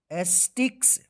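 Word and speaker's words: sticks: to them that the एस्टिक्स एस टी आई सी के एस देखिए सी और के कहीं पर भी एक साथ लिखा रहे इसका जो है ना क उच्चारण आप कीजिएगा ठीक है ना वेयर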